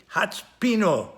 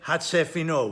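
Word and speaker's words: הצפינו: So the word should really be hatspino, but it's not. It's pronounced here hatsefino.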